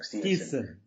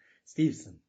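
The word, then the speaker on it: Steveson: Stevenson. There's no N in there. A lot of people struggle with that. They try to throw an N in there too. Stevenson.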